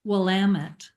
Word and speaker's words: Willamette: So for everyone, it is pronounced Willamette. And yes. How we remember it, you can remember by saying Willamette, damn it.